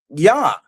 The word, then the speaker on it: Yah: But, one thing that everybody agrees on is that first part of the name, Yah.